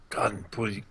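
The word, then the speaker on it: Ghân: leader of the Woses, Khan, or is there a better way of pronouncing that? Gun. That sounded great, Pineleaf.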